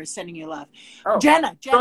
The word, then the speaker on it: Jenna: Jenna, not Jane.